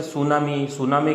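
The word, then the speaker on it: tsunami: उसी प्रकार जैसे सुनामी की स्पेलिंग बोलते हैं तो अपन स पहले बोलते हैं, लेकिन स्पेलिंग है वो टी से शुरू होती है।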